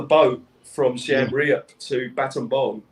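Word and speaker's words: Battambang: from siem reap to baton bomb as they pronounced it you know you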